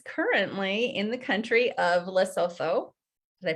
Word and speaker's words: Lesotho: And she is currently in the country of Lesotho. Did I pronounce that correctly? It's Lesotho.